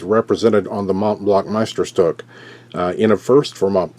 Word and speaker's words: Meisterstück: And on the band is the Mont Blanc Mittelstrop. How do you say that name? Meisterstück.